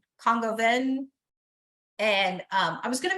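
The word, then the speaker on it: coq au vin: But this one was and I don't say it right because I think I always want to say AU as AU, but it's Congoven.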